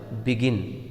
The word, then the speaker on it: begin: on the second syllable for example begin so the word begin is a babic word and it is a verb word so the stress will fall on the second syllabic begin so we can